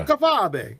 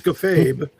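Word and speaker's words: kayfabe: Well, if you look on the screen, that's the way you pronounce to spell it. It's a kafab. You can't it's kafabe.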